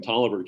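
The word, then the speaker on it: Taliaferro: is the superintendent in toliver county and if you look for toliver county it's not spelled the way i just pronounced it but that's how you pronounce it but imagine an entire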